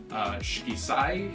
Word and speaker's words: Shikisai: Shikisai is how you pronounce, I think, the new restaurant that is coming in, and that stands for 4 seasons.